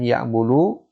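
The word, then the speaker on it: يعبد: Abada artinya telah menyembah, dan ya'budu sedang atau akan menyembah. Jadi tatkala kita misalnya ada fi'il seperti ini, nggak ada harokat, ya. Nah, maka ini, ya, sudah kita pastikan bahwa cara bacanya adalah ya budu.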